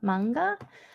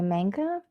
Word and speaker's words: manga: ah nee MIT and then we've also got manga a lot of people say manka but we know that it is manga because